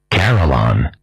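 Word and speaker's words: carillon: Carolon.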